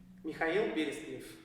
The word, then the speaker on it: Mikhail Berestnev: a Russian lesson and tell me the correct pronunciation of your name. [Mih-kai-ill Beh-reest-nyev].